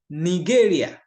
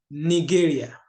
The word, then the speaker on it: Nigeria: Ich komme aus Nigeria. It is spelled the same way, but it is pronounced differently. Ich komme aus Nigeria.